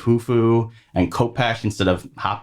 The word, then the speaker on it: Khufu: the king chronicles stuff they usually leave the k as silent but he pronounced all the k's so like he called the khufu instead of hufu and kopach instead of